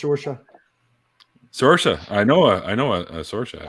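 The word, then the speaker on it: Saoirse: that's pronounced Sorsha.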